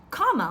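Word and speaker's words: Kamala: it's not that hard one of her nieces said comma like a comma in a sentence and the other said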